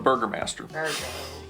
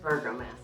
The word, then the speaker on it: Burgomaster: It is burger like a hamburger and master.